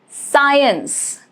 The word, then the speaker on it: science: Rule is C is usually silent after S and before I, E or Y. For example, the word scent, scent, C is not pronounced. Fascinate, science, all of these letter C is silent as it is coming after the letter S.